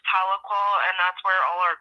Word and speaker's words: Tahlequah: It's headquartered in Tequila, Oklahoma. Have you been to THLEQUAH, Oklahoma? Yeah, it's pronounced Tahlequah, and that's where all our court proceedings have been, is in right.